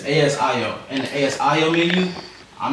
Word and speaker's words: ASIO: I would say Agio because that's how I pronounce it, right? But it's ASIO.